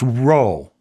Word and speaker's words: rho: The second word was a P and it was pronounced row.